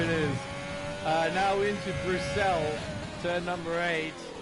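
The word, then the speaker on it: Bruxelles: is uh now into brucell turn number eight english speakers will probably call it brussels but it has a french name so it's pronounced for cell now no name corner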